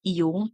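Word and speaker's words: Jung: agentic sevent is Carl yung it is Actually pronounced as yung no Carl yung self as the central archetype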